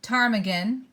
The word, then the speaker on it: ptarmigan: we have here the I'm guessing that P is silent ptarmigan the arctic fox a gray wolf a lemming an arctic hare caribou and mrs.